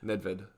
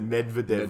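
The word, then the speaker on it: Nedvěd: Anyway, Nedved. Nedved. I said Medvedev, like the tennis player.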